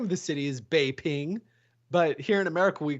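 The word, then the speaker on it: Beijing: pecking no the name of the city is Bay ping but here in America we call it pecking because then like nobody corrected this oh sure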